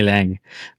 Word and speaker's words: Lange: I feel like everyone calls me Lange and I'm like it's lag. Yeah, it's lang.